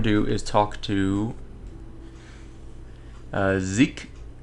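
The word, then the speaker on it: Xizk: do is talk to Zeke. I guess that's how you pronounce that. X-I-Z-K. Zeke. That's what I would say.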